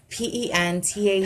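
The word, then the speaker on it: Pentatonix: Can you pronounce it? Pentaxlin. No. What? This one. See it? Huh? Pentatonics.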